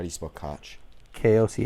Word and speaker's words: Koch: how do you smoke Koch KLC H cook I believe is how you pronounce it cook yes and what if